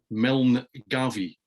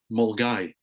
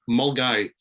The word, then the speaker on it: Milngavie: team on should be Milne Gavi, Milngavie, Milne Gavi. Now in Scotland you pronounce that Mulgai. Okay, I have no idea why, but that is Mulgai.